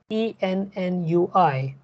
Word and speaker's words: ennui: So for example, the second word in the seventh line, E-N-N-U-I. Now, no amount of your general knowledge will help you to pronounce this word, right? It is ennui.